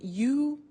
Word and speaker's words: used: Now, this verb, used to, well, it's written U-S-E-D, but the pronunciation is used, and we'll see that on the screen later.